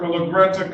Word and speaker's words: Legarreta: Sí, es Legorreta, es con A. Usted lo pronunció con O, Legorreta. Yes, it's Legorreta. I thought I heard an O, but it's Legorreta. Okay, Mr. Legarreta, today is the